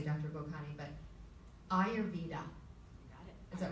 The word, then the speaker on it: Ayurveda: This is where her patients seek her insights, and I really hope I pronounce this correctly, Dr. Bokhani, but Ayurveda. Is that right? Correct, yes. Ayurveda.